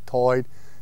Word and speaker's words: tide: For example, the pronunciation of words like tide as toid, you can hear among older people in Prospect, and you can also hear on the Outer Banks.